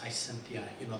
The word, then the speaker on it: Gisimba: The young lady's name is Gisimba, the flower. Am I pronouncing that right?